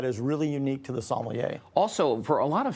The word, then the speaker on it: sommelier: It's sommelier is like the correct pronunciation of it.